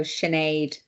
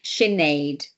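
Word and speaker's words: Sinéad: So Sinead, like lemonade, but there's a invisible H in between the S and the I, which is very confusing for almost everybody who tries to pronounce the name.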